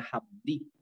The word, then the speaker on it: Jamundí: Y esta transcripción resultó en la palabra Jamundí, que en algunos casos se escribe con X, pero con X pues no se pronuncia con X, se pronuncia como una J.